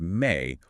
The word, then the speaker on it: me: The me, pronounced may, are the fundamental building blocks of civilization.